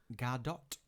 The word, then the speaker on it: Gadot: you see gal gadot it's actually gardot that's uh how gal gadot an actor recently was interviewed who worked with her pronounced it i can't remember who it was but he says it's gadot that's fine i'm happy